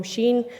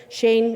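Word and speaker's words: Shein: many of you know Sheen Shane it's pronounced differently by different people but they've been kind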